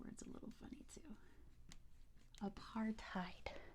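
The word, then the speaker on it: apartheid: say South Africa's policy of segregation known as a part tide very good A Part tide let me spell that out because it is Africans and they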